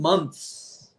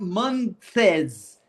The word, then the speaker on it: months: I The th is not pronounced.